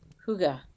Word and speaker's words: hygge: Before we get started, the Danish have a word that you may have heard about, hygge. It's spelled Hygge, which is a description of cozy.